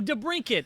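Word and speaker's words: DeBrincat: know how do you how do you say is it de Brink it oh de Brink it that's what I was about to say I was like brender cat brender cat yeah de Brink yeah duh I know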